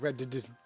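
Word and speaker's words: redd: A red with 2 D's. You gotta pronounce it like red.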